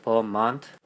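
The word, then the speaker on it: Vermont: 거어 커네 버만만은 버먼트 버만 원래 발음을 할 때는 버만 하거든요 트가 안 들어가더라고요 만 하는데만은 이제 유티만이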